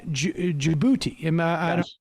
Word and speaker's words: Djibouti: in and out of Ethiopia is through uh Djibouti pronouncing that right but yes you are and so